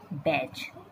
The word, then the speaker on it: batch: BA का बै पढ़ेंगे, और TCH को च पढ़ेंगे। यहाँ पर T जो है साइलेंट रहेगा, भले साइलेंट रहेगा, लेकिन इसे हमको स्पेलिंग में लिखना ही है।